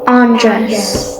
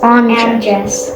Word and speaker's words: Andres: You pronounce his name like address, but with an N. Yeah. Andres. Andres.